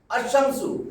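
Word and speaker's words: الشمس: থাকে দুইবার পড়তে হয় আশশামসু তার মানে কি বুঝলেন? এখানে আলিফ লাম যোগ করলে আলিফ লামের পরে সূর্যাক্ষরের যেই হরফেই আসুক লামের উচ্চারণ হবে না।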